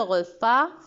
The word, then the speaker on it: repas: cliente avec un thé le repas à un ace à la fin numéro 8 trouve le